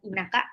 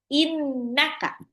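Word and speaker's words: إِنَّكَ: Baca nun tasjid harus digunah innaka. Jadi bukan innaka tapi innaka.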